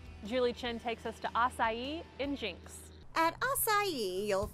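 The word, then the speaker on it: açaí: open one of those akai places i was like well the problem is you need to say it right if we're going to have one so i was like it's acai and so that's how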